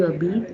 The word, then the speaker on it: habites: So now it's read like Jabit, Jabit, tu habites. Just see H is silent.